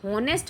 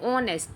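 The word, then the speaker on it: honest: इसको एच से होनेस्ट पढ़ के और होनेस्ट के हिसाब से ए आ गया। लेकिन अपन इसको सही प्राउन सही क्या बोलते हैं? ऑनेस्ट। तो ऑनेस्ट के हिसाब से एन आएगा।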